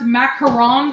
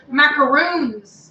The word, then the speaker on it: macaron: he keeps me young so it's actually pronounce macaron Oh macaron okay because we always said macaroons that's what we thought